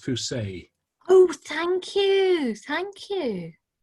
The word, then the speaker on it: Fuse: Oh, by the way, her name's pronounced Fuse.